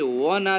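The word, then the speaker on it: one: जो है यहाँ पे व ना दे के अ दे रहा ना, ऑनियन, तो अगर ऑनियन आएगा तो उसके पहले एन होगा, लेकिन यहाँ पे व साउंड आ रहा है, वन आइड मैन, तो यहाँ ए का प्रयोग होगा।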